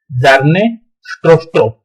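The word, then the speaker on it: Bjarne Stroustrup: Okay, the pronunciation is Jarne Strostrup at Bell Laboratory circa at 1980.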